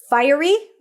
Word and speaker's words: fiery: the Airy light Cottage fiery is like fire fiery fiery at odds with means